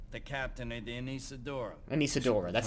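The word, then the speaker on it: Anesidora: Anisadora, that's how you From the pronounce flight that.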